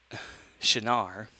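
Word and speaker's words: שׁין: episode 1, is actually the Hebrew letter shin, or sin, which is pronounced shin. The differentiation between the two, of course, is where the dot is on this character here. Is it above here? It's sin. If it's above there, it's shin.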